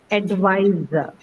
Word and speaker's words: advisor: Now you have to choose between the first two. The third one is out since it has an the schwa. So first or second? Ma'am, at the second.